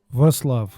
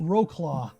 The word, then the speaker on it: Wrocław: Wrocław. Wrocław. Oh, yes, of course. Hey. Wrocław.